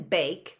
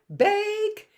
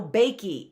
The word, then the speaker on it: bake: talking so as in bake we have two vowels but the first one is saying its own name take a bake right and we hear no e on the end we hear no bakey it's not baking so